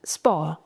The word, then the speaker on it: sport: T would be silent, sport.